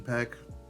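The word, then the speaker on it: Peck: I just realized I think I said Brian's name wrong it's Brian peek Josh peek Brian peek but there's no relation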